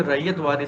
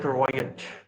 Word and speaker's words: ryot: वो जो RYOT रैयत लिखा होता है ना, वो ब्रिटिश प्रोनाउंसिएशन है, क्योंकि अंग्रेज वगैरह प्रोनाउंस कर नहीं पाते थे। तो उसको रैयत को वो लोग पढ़ते थे रॉयट, तो वो RYOT हो गया रॉयट। जैसे कानपुर का खानपुर हो गया, रैयत का रॉयट हो गया, है ना, RYOT।